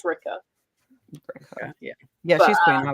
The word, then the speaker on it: Rikke: Ricka. No, she said it rhymes with pricker or something. Yeah. And I was like, I think it's Ricka.